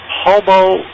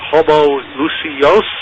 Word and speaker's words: homoousios: But you're supposed to accent the second to the last syllable in Greek, penultimate as it's called. So it's either homoousios or homoousios or something like that.